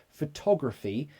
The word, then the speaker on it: photography: How do you pronounce photography and photographic? Great question. Photography. So the stress is on to. Photography.